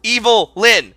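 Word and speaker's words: Evil-Lyn: Her name is pronounced evil Lynn.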